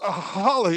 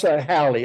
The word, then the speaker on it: Hallie: And that's Holly. Is that correct? Pronounce it Holly? Yeah, pronounce Hallie, as in Sally.